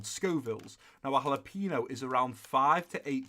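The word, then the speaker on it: jalapeño: guys know what a jalapeno is some even I see it as jela piano boy I pronounced a jalapeno you can get them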